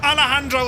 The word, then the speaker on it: Alejandro: It's like jalapeno. Ah, right, we're learning now together. It's a soft J. It's like yogging.